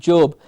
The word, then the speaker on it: job: of the country and we will hear them call it job j-o-b job so job clear open mouth are job then we have